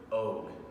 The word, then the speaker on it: Og: When I say the word Og, O-G, that's the way you pronounce it, what comes to mind?